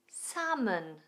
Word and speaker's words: salmon: Salmon.